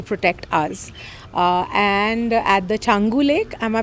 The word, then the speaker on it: Changu: And at the Changu Lake, am I pronouncing it right?